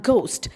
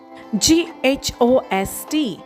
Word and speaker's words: ghost: Next we have ghost spelled as g h o s t and we pronounce as ghost. G O S T ghost and the sentence that